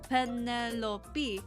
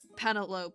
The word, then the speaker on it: Penelope: But then I heard people say penelope, and I'd be like, um, if it was spelled panel, then wouldn't the PE like be like a like a distinct thing and not just a like a lope? Um, actually I still think panalopee is sounds like a decent word.